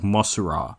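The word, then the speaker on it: モスラ: yeah because you know Mothra in Japanese is like mura and Mothra is like the English version maybe at this point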